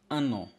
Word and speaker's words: un an: You see, un on its own is pronounced as a. You don't say an. But when it comes before on, this ans, which it refers to years or year, then you pronounce the n.